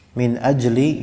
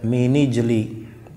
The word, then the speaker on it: من أجل: Min ajli ini riwayat kebanyakan dari ahli qiraah bacanya min ajli, namun dalam qiraat Abu Ja'far bacanya dia dengan nunnya dikasrahkan dan juga hamzahnya menjadi hamzah mausul sehingga bacanya mini jeli, ya, baca mini jeli dzalika, ya. Kalau kita riwayat yang kita baca atau qiraah ammah, bacanya dengan nun yang dijazmkan dan adanya hamzah yang difathahkan, min ajli dzalika gitu.